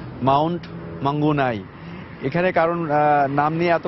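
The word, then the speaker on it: Mount Maunganui: আসলে ভেন্যুর নামটা আসলে মাউন্ট মাঙ্গুনাই।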